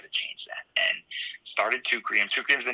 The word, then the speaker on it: Teucrium: Teucrium.